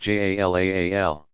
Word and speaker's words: Jalal: God's names include about equally those that suggest divine power and majesty, Jalal, pronounced Jalaal, and those that speak of his beauty and infinite attractiveness, Jamal, pronounced Jamal.